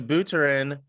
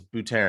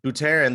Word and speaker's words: Buterin: article and it reads to buterin buterin i think it's bhutara and i keep saying it wrong butarian the worst case scenario